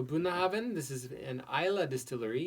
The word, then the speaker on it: Bunnahabhain: very long name and it looks like it's unpronounceable but it's buna haben buna haben so boon oven this is an eyelid